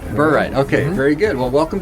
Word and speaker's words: Burright: Did I pronounce that right? Burright. Burright.